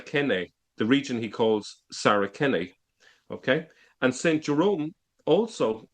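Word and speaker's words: Saracen: is they forget that in Latin the the C the letter C was originally pronounced with a K. So in the early centuries you wouldn't say sarasen but you would say saraken. That's how it was pronounced and and the same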